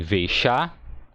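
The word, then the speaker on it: וְאִשָּׁה: Então você tem Veishá e mulher. A sílaba não é tônica. Aqui, a primeira sílaba, ó, ela não é tônica. A tônica aqui é a segunda sílaba, ó, chá.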